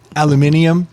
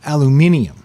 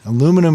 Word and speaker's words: aluminium: right I've got to I've got to pronounce the extra I yeah it's aluminium yeah don't don't get it twisted aluminum is just our bastardization